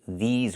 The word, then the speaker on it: these: We have to say these words. We have to use the long e like green beans.